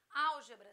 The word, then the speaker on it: álgebra: Álgebra, sílaba tônica, antepenúltima.